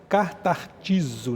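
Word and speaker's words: καταρτίζω: Ela no grego a pronúncia certa, né? É consertar, katartizo, né?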